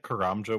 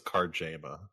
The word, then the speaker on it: Karamja: I used to always think Karamja was Karjama.